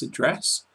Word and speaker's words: address: Then remember its address with an accent like possess.